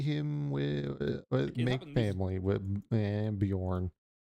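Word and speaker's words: Björn: Yeah, just in time to see him with make family with Bjorn. It's odd that there's a J in the name. You don't pronounce the J.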